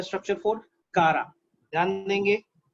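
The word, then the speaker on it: Chara: ये कारा, चारा, कारा, कारा प्रोनाउंस करते हैं ज्यादातर ना।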